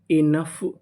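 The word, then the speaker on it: enough: इ एन इन और यहां पे ओ हमारा साइलेंट है पूरी मीनिंग क्या बनी इनफ इनफ इनफ का मतलब होता है पर्याप्त तो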